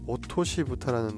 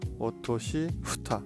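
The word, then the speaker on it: 落とし蓋: 이제는 오토시 부타라는 거를 덮어주도록 하겠습니다. 오토시라는 거는 떨어뜨렸다, 떨어진 뭐 이런 뜻이고, 부타라는 거는 후타, 뚜껑입니다. 오토시 후타, 후타인데 이제 발음이 어려우니까 오토시 부타가 되는데요.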